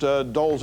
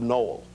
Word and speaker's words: Dole: So the other day on the Today Show, he mispronounced Dole's. Is that on the tape? Is it on this? Okay, mispronounced Dole's name accidentally. He's talking to, I think, Jane Pauley, and he calls Bob Dole Bob Noel.